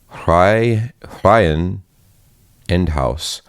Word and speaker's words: Reihenendhaus: Reihenendhaus. Reihenendhaus. Oh, Reihenendhaus. Reihenendhaus. So if you read it all together, it seems very overwhelming, but if you break it up into 2 words, Reihen and Endhaus, it's Reihenendhaus.